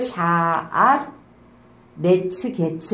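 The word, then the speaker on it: שעטנז גץ: 근데 왜 샤앗이냐면 쉰하고 아인 있잖아요. 그리고 테트는 티귿 발음이잖아요. 그래서 샤 시옷 그리고 아인의 아 테이트의 티귿 그래서 샤앗 그리고 눈의 니은 그 다음에 자인의 지읒 해서 네츠 그 다음에 기멜의 기역 짜대의 치읒 그래서 게츠 이렇게 자 샤앗 네츠 게츠는 왕관을 써.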